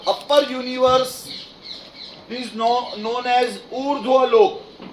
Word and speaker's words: ऊर्ध्वलोक: Universe is known as ऊर्ध्वलोक। ऊ आधा ध आधा र पूरा व, ऊर्ध्व। लिख पाओगे? ऊ आधा ध और व लिखने के बाद व के ऊपर रेफ कर दोगे तो उसका प्रोनाउंसिएशन होगा ऊर्ध्वलोक।